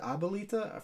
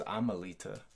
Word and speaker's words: Abuelita: Is that how you pronounce it? Abuelita? For some reason, I always thought it was Amelita.